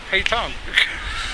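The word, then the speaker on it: pétanque: I think all of a sudden I know how to pronounce it. Petanque.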